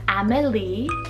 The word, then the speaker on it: Amélie: I have two kind of spellings for my next one here, and they both have actually a little bit of a different pronunciation. So I have the name Amélie, A-M-E-L-I-E.